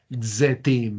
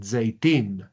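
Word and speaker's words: זֵיתִים: Z, Z, Zetim, ¿no? Miremosla acá. Ahí quedaría, para decir olivos en hebreo, yo digo zetim. En hebreo moderno se lograría escuchar la iod, sería zeitim. Normalmente así se pronuncia, pero nosotros estamos todavía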